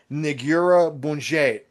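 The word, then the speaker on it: Negură Bunget: They're called Nigura Bunget, and it's spelled N like Nancy, Egura, B like boy, Unget.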